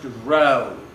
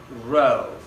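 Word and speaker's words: rho: or r equal to row l/ a this is a Greek letter pronounced row row and this row is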